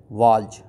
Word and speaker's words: waltz: Spelling देखिए, ये एक डिफ़िकल्ट वर्ड है, WALTZ, वाल्ज, राइट.